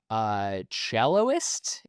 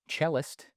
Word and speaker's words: cellist: about this like career celloist. Was she a celloist? The Perfection. Was she a celloist? Hello? Internet, help me. Confirmed, she's a celloist, although it's pronounced cellist.